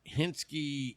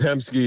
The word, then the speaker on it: Hemsky: Oh, see, I thought your Twitter name was like Hensky 83. Yeah, it's Hemsky. Yeah, it's 83. You can spell it out, but if you type in Oilers Fan 83, it'll probably be bring there.